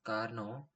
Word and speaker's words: Karnaugh: to simplify logical Expressions the Caro pronounced as Carno map was proposed by Mar